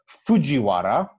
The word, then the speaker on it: Fujiwara: uh guy whose uh name is pronounced fujiwara uh because he's japanese but he writes it using the old nationalist uh transliteration